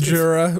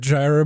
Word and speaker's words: Jira: it's like Java 4 it's just jira but I want to keep calling it Gyra because that's how it's spelled but yeah uh the